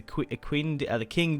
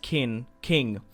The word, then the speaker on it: Qing: Pushing into China could be good against the Qing dynasty. I think it's pronounced King instead of Quinn.